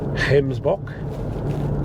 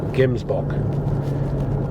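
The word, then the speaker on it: Gemsbok: Red Heartbeast Hemsbach. Now, it's pronounced with a H, but it's G E M. Gbach, also known as Orics.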